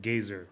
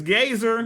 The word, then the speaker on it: Gazer: Okay, Marisha Ray said Gazer. So Yep. the official name for this is Gazer.